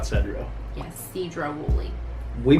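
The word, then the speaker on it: Sedro-Woolley: Yes, Cedro Woolley. We butchered names all the way across the country.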